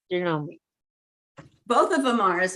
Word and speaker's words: Janome: Janome oh that one is an embroidery properly pronounced Janome both of them are as a matter of